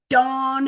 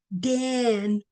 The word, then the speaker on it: Dan: to have that name Dawn in there somewhere. Again, it's not Dan, and it's not Dean, it's Dawn, D-A-W-N. or D-O-N, dawn.